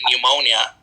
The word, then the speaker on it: pneumonia: For example, if you say the S in Illinois or the P in pneumonia, you are making a mistake in pronunciation, regardless of how precisely you articulate the sounds.